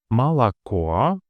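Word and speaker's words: молоко: In mala, the third or is stressed and thus fully pronounced mala. The second O being the closest pre-stressed vowel is pronounced shorter according to the first degree reduction with a sound similar to that in quickly spoken fun or sun mala.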